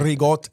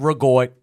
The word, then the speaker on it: ricotta: Ricotta, the cheese. You use a lot of ricotta cheese in your place? Ricotta, not rigot.